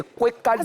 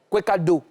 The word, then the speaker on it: Kwekado: Je prononce bien, c'est Kwekado. C'est. Yeah. Kwekado. C'est pas do.